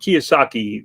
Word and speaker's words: Kiyosaki: he pronounced his name to understand how to pronounce his last name properly Robert Kiyosaki Rich Dad Poor Dad he uses this thing